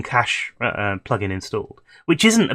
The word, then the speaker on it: cache: Some people say cache, some people say cache. Cache is what it should be from the root word.